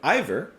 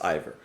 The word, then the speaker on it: Eivør: anything by the way i looked up really quick how to pronounce her name and from what google says it's ivor so i'm gonna go with that for now hope that i've gotten it